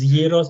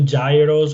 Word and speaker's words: gyros: even the spelling and the pronunciation which is heroes as opposed to gyros or all the other